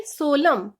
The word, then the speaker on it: solemn: Next word है SOLEMN, बट इसमें हम एन की वॉइस नहीं लेंगे, एन साइलेंट होगा, इसको हम बोलेंगे सोलम।